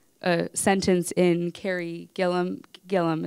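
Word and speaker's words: Gillam: sentence in Kerri Gilliam Gilliam is how you pronounce her last name right um her book whitewash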